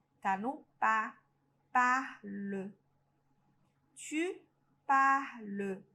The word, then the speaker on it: parles: Tu parles. Ó, o som idêntico pro G e pro tu. Não pronuncia o S.